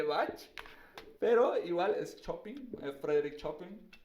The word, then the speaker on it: Chopin: Obviamente no se va a comparar con el maestro de Bach, pero igual es Chopin, Frédéric Chopin, Chopin, como se diría, Chopin. Se escribe Chopin, pero es Chopin. Y bueno, pues entonces ese fue el producto.